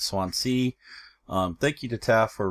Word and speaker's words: Swansea: I was saying Swansea, but it's Swansea.